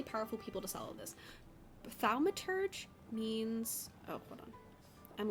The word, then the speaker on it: thaumaturge: I think we'll need a how do you pronounce that? A thaumaturge.